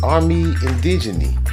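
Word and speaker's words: Armée Indigène: ever heard of the army indigeny hello that's how they say it that's how the French like to see it right salute ume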